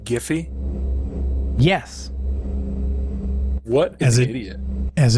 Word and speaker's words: GIF: you guys know that that website Jiffy uh g y yeah the Creator pronounces it gify yes what an idiot